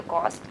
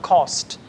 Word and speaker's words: coast: having parties near the coast, and scenic views around the water during the sunset and sun falls are pleasant and smoothie. Okay, the word is pronounced as coast instead of cost.